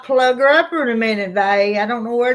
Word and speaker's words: Vay: Some people would call you Vay, so I just picked that up. Yep. Some of them were pronouncing it funny, and I said, no, it rhymes with hey. Hey, they. Hey, Vay.